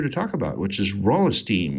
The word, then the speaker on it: Rolisteam: talk about which is raw esteem which I've been occasionally mispronouncing is raw a stream just because it sort of seems like it needs an hour in there somewhere but what is raw